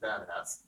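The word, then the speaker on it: BDAS: berkeley data analytics stack the acronym is bpas and we pronounce it badass and um and this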